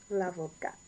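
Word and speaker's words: avocate: A female lawyer, l'avocat, with an E. And you pronounce the T because of the E.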